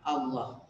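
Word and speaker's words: الله: Tadi sampai Allah itu tafhim dibacanya tebal, Allah.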